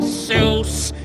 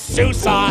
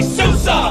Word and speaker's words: SUSE: you don't misuse most people mispronounce it they try to call it sales but it's Susa yes Susa now say it with me Souza it starts like Sue that girl you knew